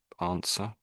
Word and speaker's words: answer: Answer. answer. Yeah, that's it. Yeah, yeah. So the W is silent.